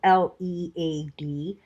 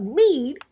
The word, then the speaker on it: lead: the verb red r-e-a-d there is also a word in english that is spelled l-e-a-d that rhymes with deed but lead l-e-a-d means to be